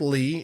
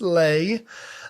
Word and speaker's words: Leigh: Lay McClendon is on today, and Lay is more famously known as Lay McNasty. Looks like Lee, it is pronounced Lay.